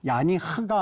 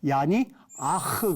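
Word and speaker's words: יניח: 같이 야니 아도나이 그렇습니다 야니 이거 발음할 때 혼동하시는 분들이 많이 있어요 이렇게 야 니 아 이렇게 돼 있는데 여기 이것부터 먼저 발음하고이 뒤에 발음하게 돼 있어요 그래서 야니 하가 아니고 야니 아흐 그럽니다 모부터 발음하고 그다음에 흐 발음은 뒤에서 내주는 독특한 그들의 읽기 법을 우리가 모르셔서 때로는 야이 하 그러는데 요거를 여러분들이 바꾸셔서 얀이이 모부터 발음 하시고 하를 발음하시면 될 것 같아요 안식하게 하신 것 같이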